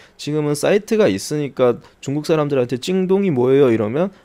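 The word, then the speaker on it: 京东: 정확한 발음으로는 찡동이라고 하는데 사실은 이 찡동 자체는 큰 의미는 없습니다. 다른 의미는 없어요. 키워드 자체는. 지금은 사이트가 있으니까 중국 사람들한테 찡동이 뭐예요?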